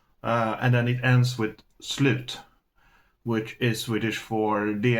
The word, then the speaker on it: slut: But the thing is, it's pronounced slut, but it's spelled S-L-U-T. So it looks like the word slut.